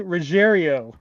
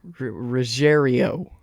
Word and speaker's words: Ruggiero: Giovanni Ruggiero. Ruggiero. That makes no sense to me the way it's spelled, but okay.